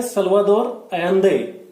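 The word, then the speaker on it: Salvador Allende: और यहाँ पे जो इलेक्टेड सरकार थी सल्वादोर अयंदे की, इसको हम प्रोनाउंस करते हैं सल्वादोर अयंदे, ठीक है ना।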